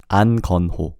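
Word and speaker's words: 안건호: Again, no K. An 건호. Exactly. An 건호.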